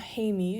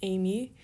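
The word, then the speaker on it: εἰμί: moo yoda and then you have a smooth breathing mark because it's not hay me it's amy and an acute on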